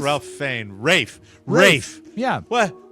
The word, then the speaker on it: Ralph: Isn't it Rafe? Ralph Fiennes. Rafe. Yeah. What? How do you pronounce the last name on this actor that was in Schindler's List?